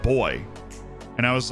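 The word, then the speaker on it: voy: It's V-O-Y is how you say it.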